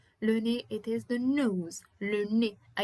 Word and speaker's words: le nez: Le nez. Le nez, it is the nose. Le nez. I don't say le nez, I say le nez. Le nez is it. At the end, it is pronounced E.